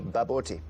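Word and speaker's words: bobotie: It's spelt B-O-B-O-T-I-E, baboti.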